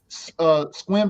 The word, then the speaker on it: Sequim: and now he's on the show in his Squim dispensary that's out there in Squim, Washington. Y'all don't know how to spell that.